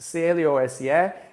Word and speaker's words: close: Close, C-L-O-S-E, e o C-L-O, clo, é a mesma pronúncia nas duas palavras, só que quando nós falamos de fechar, é close, daí o som de Z no final, close. Please close the door, por favor, feche a porta.